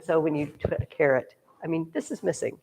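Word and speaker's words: caret: there do you know it's called a carrot but it's not spelled like a vegetable it's spelled like this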